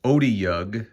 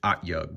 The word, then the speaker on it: Otyugh: just learned on D&D Beyond that it's actually pronounced Otyugh, and I've been pronouncing it Otyugh.